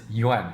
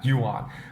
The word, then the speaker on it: yuan: Chinese currency pronounce incorrectly it is un not you on okay so when you